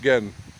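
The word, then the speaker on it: 근: n underneath in in Korean so and it's pronounced gen and the again is a measure of traditional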